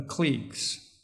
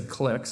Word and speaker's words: clique: you you could say clicks I guess it can pronounce be pronounced either cliques or clicks but I use The Clique so I'll say cliques which are you know